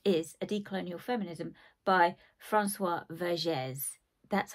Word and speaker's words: Françoise Vergès: more of it, is A Decolonial Feminism by Françoise Vergès.